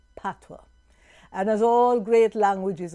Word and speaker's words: patois: now the jamaican language is called patwa it is spelled p a t o i s what is pronounced patwa and as all great